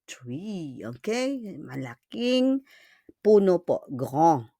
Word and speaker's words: grand: Malaking puno po, grand. But you don't pronounce the D. On ne prononce pas le D.